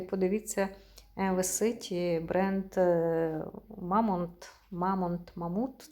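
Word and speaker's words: Mammut: висить бренд мамонт мамонт мамут читається мамант це дорогий бренд такий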